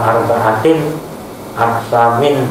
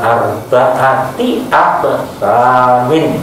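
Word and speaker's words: أربعة أقسام: Anda membacanya gitu ya, nggak boleh dibaca ala arba'atin aksamin ya. Tapi diwasalkan, untuk ilahkan ala arba'ati aksamin gitu.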